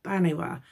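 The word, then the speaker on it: Banbha: the Celtic tradition is Banwa. And that's the one that's spelled B-A-N-B-H-A. She might be Banba, but I've Googled it and it looks like she's Banwa.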